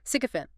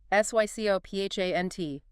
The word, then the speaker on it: sycophant: Okay, 8th noun, sycophant. S-Y-C-O-P-H-A-N-T, stress. Sycophant. Sycophant. Stress on the first syllable. 3 syllables.